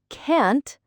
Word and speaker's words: can't: And can't, not cunt. Be careful with that vowel and the T sound.